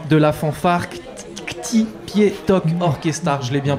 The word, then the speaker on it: Ktipietok Orkestar: est avec Fred de l' de la fanfare pi to orchestar je l'ai bien prononcé c'est parfaitement ça c'est parfait ça merci